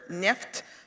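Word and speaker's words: нефть: The oil, they use Russian word for it, neft, rhymes with Geschäft, oil with business.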